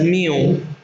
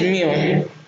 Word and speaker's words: mu: there is a greek letter and it is pronounced as mu mu okay so that is mu so the average is just obtained or the